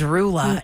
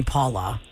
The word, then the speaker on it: Rula: Because my name is Rula. And when people scramble and they freak out when they see how my name is spelled, for some reason, their brain makes them call me Paula.